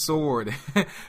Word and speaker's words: sword: I just get so angry when somebody says sword. I'm like, oh my god, it's sword. Probably because I'm just used to hearing that, but I guess some people pronounce the W in there.